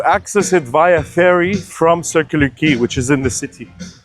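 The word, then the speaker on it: Circular Quay: So, circular key, when you hear it, you'd think key is spelled K E Y. But the reality it's spelled Q U A Y.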